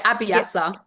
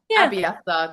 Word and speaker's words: Abiasa: Um you I'm going to say Abbyasa, but I think you pronounced it slightly differently. Is that right? Is it might have been the British accent, but yeah. Abiasa. Abiasa.